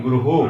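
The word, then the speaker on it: गुरुः: उसको क्या बोलेंगे, हम गुरुहु। क्या बोलेंगे दोस्तों, गुरुहु बोलेंगे। यानी जो हमारा विसर्ग होता है हा के समान इसका उच्चारण होता है।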